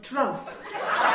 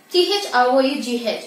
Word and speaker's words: through: One day he cut wood so fast that by 3 o'clock in the afternoon, his day's work was trough. Poor Shakespeare. Trough? T-H-R-O-U-G-H is pronounced through.